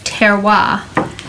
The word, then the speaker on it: terroir: everything right now so the French word for soil in reference to grapevines and wine making pronounced terroir that would be nicer